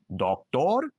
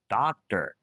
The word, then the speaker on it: doctor: Do you say doctor, teacher, today? If you say that, you're making a mistake. Say doctor, teacher, today. If you said it the wrong way, don't worry. This is a very common mistake that English learners do. The good news, there's one tiny sound that if you learn it, you can fix this problem. It's called the schwa.